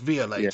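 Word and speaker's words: Viollet: Rowley and Dennis violet okay and it's actually pronounced via later to be fair yeah okay they're going back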